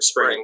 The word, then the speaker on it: Xpring: spelled x p r a and g but pronounced for spring i have it correctly uh and and how